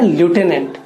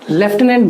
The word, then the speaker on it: lieutenant: तो उनमें से सबसे जो चैलेंजिंग वर्ड जो मैंने अपने टीचिंग एक्सपीरियंस में देखा है वो है ल्यूटेनेंट, जिसे हम लेफ्टिनेंट भी प्रोनाउंस करते हैं।